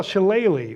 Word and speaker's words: shillelagh: So what they cut off there was that thing he was failing to pronounce was the spell shillelagh, which looks like shillelagh.